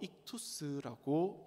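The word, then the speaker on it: ἰχθύς: 물고기는 헬라어로 익투스라고 읽습니다.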